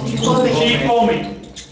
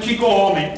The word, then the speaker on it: chicome: Chicome. Y aquí, fíjate, no es chico home, sino chico. Hay una contracción de ese chico, que se queda en chic.